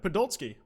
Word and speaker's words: Podolsky: Oh, I did pronounce it right. Podolsky.